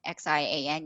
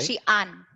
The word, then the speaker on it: Xi'an: Xi'an. In syllable two, an. It's not preceded by a yut in the same syllable, so that brightening of the a vowel doesn't take place. It's just this basic an.